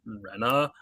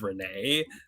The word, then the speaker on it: Renee: friend today yesterday and I kept on calling them Rena uh their name is Renee uh they made fun